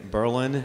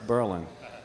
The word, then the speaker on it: Berlin: and I live in Berlin New Hampshire not Berlin it's Berlin if you say Berlin they know you're not from here and as he says